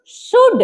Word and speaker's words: should: कुड L silent हो गया ना? एस एच ओ यू एल डी शुड क्या पढ़ेंगे?